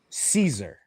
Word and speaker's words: Caesar: on paper is with Caesar. And when I say Caesar, I'm saying it phonetically. I'm not saying it ce. I'm saying it s e i ze r.